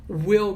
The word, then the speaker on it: we'll: Eles falam se will como o. Eles falam I'll like you, em vez de I will like you. Eu vou gostar de vocês, falam I'll like you. Nós vamos pra praia hoje, eles falam we'll go to the beach today. We'll go. Não we will go.